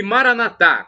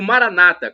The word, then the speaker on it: Maranatha: bem ele vai providenciar e Maranatha como dizemos nós católicos com a tônica na última sílaba ou Maranata como dizem isso protestantes ou evangélicos nossos irmãos separados não